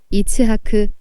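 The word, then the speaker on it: יצחק: 상심한 사라 이야기가 나옵니다 히브리어로 이삭이 이츠하크 희롱하다 차하 그로 발음하는데 조롱하듯 희롱하는 이스마엘은 분명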